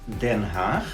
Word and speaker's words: Den Haag: it's the new name for The Hague, as the English people call it, is Den Haag. But we also have like the old-fashioned way to pronounce it or to write it, and that's Schravenhagen.